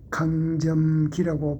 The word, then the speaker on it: 강점기: 제가 강점기라고 발음했죠. 그것은 잘못인지 알면서 제가 강점기라고 했습니다. 그 이유는 한국의 강점기라고 하지 않는 사람이 없는 것을 제고 제가 놀랐기 때문입니다. 이것은 강하고 짧게 할게 아니라 강이라고 길게 발음해야 됩니다.